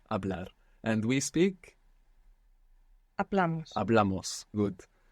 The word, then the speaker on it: hablamos: Hablamos. Good. So with amos, we're adding on 2 syllables, and the accent is going on the second last syllable.